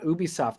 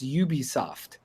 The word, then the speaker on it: Ubisoft: It stands for Ubiquitous Software. Oh. So that's why it's pronounced Ubisoft.